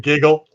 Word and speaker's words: Gig-L: I think it's pronounced Giggle or Giggle. She'll correct. Giggle.